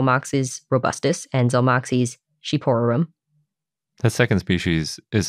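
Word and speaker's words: shqiperorum: I would have never guessed that that was pronounced sheep to start yeah I had to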